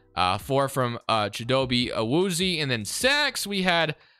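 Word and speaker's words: Awuzie: four from uh jadobi a woozy and then six we had uh orwoozi i think is actually how you say it but uh vida veya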